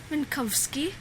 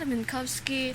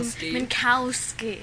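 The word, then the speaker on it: Minkowski: the sh we've got minkovski how do you say it minkovski minkovski for much of the podcast Doug calls him mski I'm like no it's Kowski it's it's it's giving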